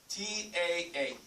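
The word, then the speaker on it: ط: It's like you're saying this here. T-A-A. Ta. But make it thicker.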